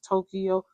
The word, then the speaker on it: Tokyo: But like as Americans, we pronounce it like 2 syllables, Tokyo, three syllables, but it's Tokyo.